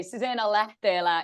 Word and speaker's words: Susanna Lähteelä: It was pretty good pronunciation, I must say. Susanna Lähteelä is the exact one, so you weren't far.